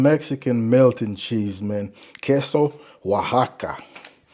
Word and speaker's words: Oaxaca: Queso Oaxaca. Pronounced totally different than it's spelled.